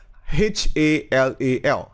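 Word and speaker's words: HLAL: how you pronounce it it's called halal h-a-l-a-l halal but it's called h-l-a-l and what it does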